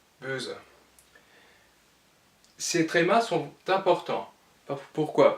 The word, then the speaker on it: böse: O devient E, donc sera prononcé comme dans le mot français creux, et sera prononcé böse.